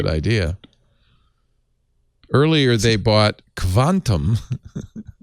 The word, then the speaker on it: Kvantum: Earlier, they bought Quantum. Quantum that's literally how it's spelled. KVANTUM uses artificial intelligence for consumer insights and marketing performance analytics.